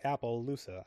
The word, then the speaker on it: Appaloosa: Oh, she's taken to the neighbor town, which is a new Appaloosa. And yes, it's spelled like Apple Loosa.